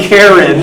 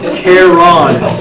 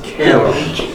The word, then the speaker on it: Charon: It's not Karen, it's Charon. That's not how they spell it either. Okay, sorry. It's spelled like Sharon, but it's not. It's Charon. Okay?